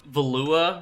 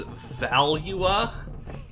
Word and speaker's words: Valua: Also, apparently the pronunciation for, like, I've been saying Valua wrong the whole time, so apparently it's Valua, like the Valuan Empire and the Valuans, but it's a little